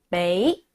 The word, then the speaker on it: 畀: 보네요네 자 다라는 뜻입니다 어떻게 발음하죠 베이 베이라고 발음합니다 한번 더요 베이 베이 주다는 말 베이 알아주세요 자 나한테